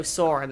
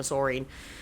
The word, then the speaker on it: Saurin: to me like saurin oh saurin that's how we're pronouncing it my bad I've been calling a sorine he responds with a